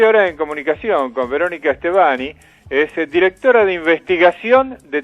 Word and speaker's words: Stevani: ¿Pronuncié bien tu apellido, Estebani? Sí, perfecto. Ah, bueno, no sabía si le estaba poniendo bien el acento.